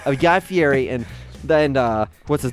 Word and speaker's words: Fieri: No one ever says it right, but yeah, it's pronounced Fieri.